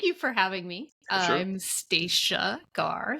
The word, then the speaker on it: Stacia Garr: absolutely well thank you for having me I'm staa gar staa like Anastasia no Anna uh for those